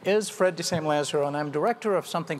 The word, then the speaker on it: Fred de Sam Lazaro: It's actually pronounced Fred de Sam Lazaro, but that is something that anchormen have struggled with for years. My name is Fred de Sam Lazaro, and I'm director of